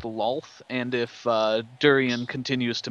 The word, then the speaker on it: Lolth: What's the correct way? Lolth. Lolth. Okay. More O.